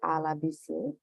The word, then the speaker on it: Ala Buisir: founding editor of Good Day Cork, and this is Ala Buisir.